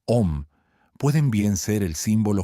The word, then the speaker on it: Om: Las tres letras A, U, M, pronunciadas en combinación como Om, pueden bien ser el símbolo generalizado de todos los sonidos posibles.